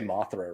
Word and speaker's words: Mothra: Like I probably don't say Mothra right.